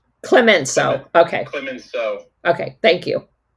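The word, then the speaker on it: Clemenceau: I just wanted to say that it it's pronounced Clemenso. Clemenso.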